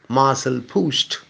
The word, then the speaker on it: Marcel Proust: French novelist Marcel Proust, I think the French pronounce it as Marcel Proust, who wrote the monumental novel In Search of Lost Time.